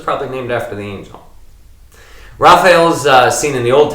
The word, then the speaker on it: Raphael: raphael probably the least some pronounce it rafeeol i have always pronounced the little pronouncer oh yeah yeah raphael but that's like the